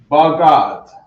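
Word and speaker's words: בגד: Bagad. Garment is bagad. Right. We got the ba, we got the ga, and then we got the da.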